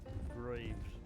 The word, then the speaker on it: Graves: Graves. Like the tomb.